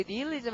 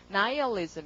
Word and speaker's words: nihilism: 그다음에 허무주의가 나오는데 이거 발음 우리 nihilism 하잖아요. 근데 발음이 영어로는 그렇지 않고요. nihilism 이랍니다.